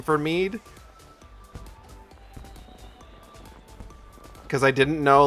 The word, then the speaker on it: Mead: To be honest, before I heard you say his name, I pronounced it Mayday in my head. Nope, it's Mead because it's shortened from Archimedes.